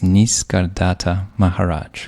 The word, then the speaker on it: Nisargadatta Maharaj: You bring up a story of a sage, and I'll do my best to pronounce the name properly. It's Nisargadatta Maharaj, who grew up in a humble tenement in the back lanes of Bombay.